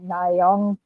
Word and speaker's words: Nyong'o: I know somebody please pronounce her last name for me. Nyong'o.